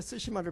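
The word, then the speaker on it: Tsushima: 그 영어로 표기를 할 때 쓰시마를 표기하면 TS로 시작돼요. 네, 네. TS. 네. 그러면 일본 발음은 쓰시마.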